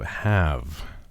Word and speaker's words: have: So H-O, have. It's always tricky when you're looking at those words and you have H-A-L and you're thinking how, haul, but really with the word have, the L is silent.